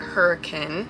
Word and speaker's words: Hurricane: Then we went to Hurricane, Utah, or as the locals pronounce it, Hurricane.